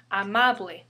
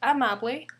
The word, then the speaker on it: amable: That's why we pronounce it as amable, not amable or amable. The stress falls second to the last syllable.